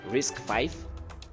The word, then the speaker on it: RISC-V: Risk v pronounced risk 5 is a type of chip instruction set architecture or ISA.